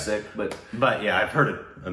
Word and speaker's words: Sikh: I have too, but I believe I think the more common sick. Original pronunciation is Sikh.